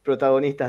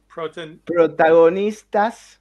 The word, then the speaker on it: Protagonistas: But I would like to that you say your name and that this is Protagonistas del Comic. Say it again, though. What is it? How do you pronounce that? Protagonistas.